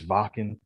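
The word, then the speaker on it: Wacken: in our first episode we called it walking because of the w or whacking but we were corrected it is vocal we might mess up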